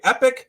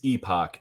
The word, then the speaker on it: Epoch: spelled like the latter yeah it is Epoch and uh I think sometimes maybe just the quickness at which we are saying it it may come across as epic maybe sometimes it's just